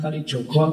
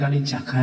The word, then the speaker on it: Kalijaga: Sama kayak Uin itu, Uin Sunan Kalijogo apa Sunan Kalijaga atau Pak?